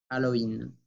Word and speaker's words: Halloween: Se escribe igual, se pronuncia Halloween. Halloween. La H siempre, siempre es muda en francés.